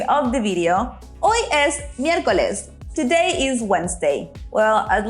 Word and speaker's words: miércoles: Did you notice we have an accent there at the E? It's very important to emphasize the E. So it's miércoles.